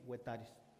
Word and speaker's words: Huetares: que también nosotros aplicamos, sabemos de antemano que a los españoles les costaba o les cuesta mucho pronunciar la palabra G, entonces pues buscaron ahí un antinomio y utilizan el H, pero en realidad el nombre oficial que nosotros nos identificamos es con G, huetares.